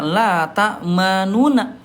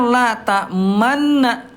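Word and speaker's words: لَا تَأْمَنَّا: Ayah bunda ini asal kalimatnya namanya la ta'manuna tapi tidak dibaca la ta'manuna ya. Ayah bunda tidak dibaca la ta'manuna tapi dibacanya la ta'manna. La ta'manna tapi ayah bunda di sini ada isyarat monyong. Ya, jadi isyarat domahnya tidak hilang. Dia dibaca la ta'manna tapi tetap ada monyongnya. Bisa nggak bunda?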